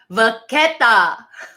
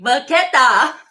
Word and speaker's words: vachetta: Vachetta is pronounced as vachetta. Vachetta. Say it with me, everybody, wherever you are. Vaqueta. Are you actually saying it? Everybody's watching. Vaqueta.